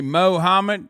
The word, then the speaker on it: Mohammed: damn you look like you say mohammed yeah that's right that is how you say it